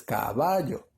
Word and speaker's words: caballo: en tu mente caballo entonces tú no dices caballo o caballo no tú dices caballo antes está en la penúltima sílaba sí está en la